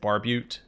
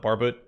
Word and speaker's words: barbute: also i know that the helmets pronounced barbute sometimes i call it barbet because i think barbit sounds a little better it also rolls off the tongue a little more easily i want to compare